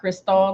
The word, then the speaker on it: Cristall: All right, guys, prior to the break, we had a special guest, Cristall. I said it right, K-Walk, Cristall, like the champagne.